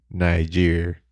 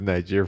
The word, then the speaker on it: Niger: Even I know how to spell it right. What about the country Niger? I didn't know it was Niger for the longest time until my cousin, that's like a bookworm, told me it was Niger.